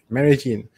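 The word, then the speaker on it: Medellín: Yin, like a ya. Medellin? Medellin. Yeah, double L. Medellin. Oh, yes, Javi. Medellin.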